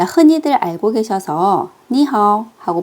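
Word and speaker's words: 你好: 삼성이 이렇게 두 개가 붙었을 때 앞에 있는 삼성을 정말 자연스럽게 이성으로 바꿔서 발음을 해주셔야 돼요.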